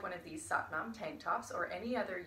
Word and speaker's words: Sat Nam: It is pronounced to rhyme with but mom. So, if you would like one of these Sat Nam tank tops or any